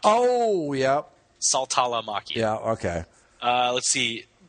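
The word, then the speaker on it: Saltalamacchia: i a you missed you missed the syllable it's salt a la Mak oh yeah salala Maki yeah okay uh let's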